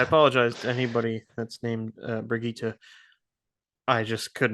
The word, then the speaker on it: Brigitte: It's I want to say Bridget.